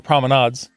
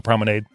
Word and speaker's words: promenade: promenades at Epcot or promenades dep on how you like to pronounce that I like to go prominade sounds like something I'd put in my hair by the way merry